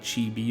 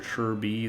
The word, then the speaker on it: Chibi: I've never read any uh books about, you know, the what happened back then at the Battle of Chibi or Shirby. Depends who's who you're talking to, how they pronounce it.